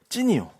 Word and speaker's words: 신: 근데 원어로는 발음이 저게 신라면 할 때 신이고 지금 여기는 찐이요. 찐 이런다고. 근데 한글로 옮길 때는 그냥 신이에요.